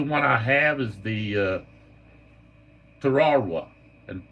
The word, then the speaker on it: Tarawa: The only one I have is the Tarawa, and that's the way it's pronounced. Tarawa. It's not Tarawa, it's Tarawa.